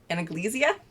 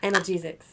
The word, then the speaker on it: analgesics: to use any kind of um i always pronounce this wrong um anaglycia analgesics thank you because i only read i don't